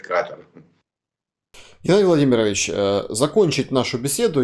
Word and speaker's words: Катар: грядущем чемпионате мира в Катаре. Ну, англичане говорят Катар, французы говорят Катар. Там, ну, в общем, кто как говорит, но ударение мне удобнее словить на Катар, хотя вроде говорят, что правильно говорить Катар.